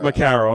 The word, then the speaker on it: Macaro: Macaro. Macaro, I'm sorry.